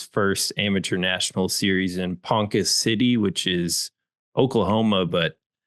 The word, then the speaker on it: Ponca: It's pronounced Panka.